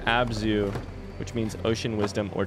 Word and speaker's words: abzu: it's a sumerian word uh maybe zu uh pronounced abzu which means ocean wisdom or to no water